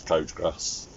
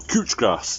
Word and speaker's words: couch grass: bane of gardeners lives is coach grass or couch grass depending where you are or how you want to pronounce it or how posh you want to be so coach cooch oh as we call it pain in the bottom